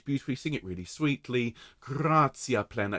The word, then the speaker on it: gratia: Gratia plena. If you can, roll your R's, please, on gratia.